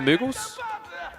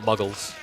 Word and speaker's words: Mughals: Unless I'm just saying it wrong all these years, but I'm pretty sure it's Mughals, not Muggles.